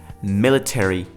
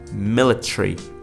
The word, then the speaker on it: military: So ARY present at the end of words should be pronounced precisely, like military, military. In British accent it would sound like military, military.